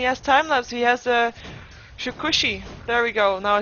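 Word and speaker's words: Shukuchi: He has Shikushi.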